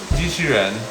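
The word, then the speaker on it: 机器人: How do you How do you pronounce that? What, in Chinese? Yes. Jīqìrén.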